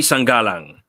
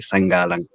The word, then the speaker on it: Sangalang: Jeffrey Sangalang. Hello. Hey, Jeffrey. How's it going? Hey. Did I say your last name right? You did, actually. You pronounced it the Filipino way.